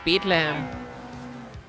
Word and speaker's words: Bethlehem: now at Bethlehem oh let's pronounce it German it's Bethlehem in baggley We Trust